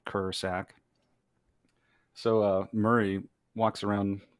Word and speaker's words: Krsak: name is murray so my last name uh is spelled k-r-s-a-k it's kind of confusing it's spelled ker sack so uh murray walks